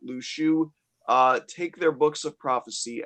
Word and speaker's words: Luxu: and completely covered up just like him, named Lushu, who I mentioned. It should be pointed out his name is spelled Luxu.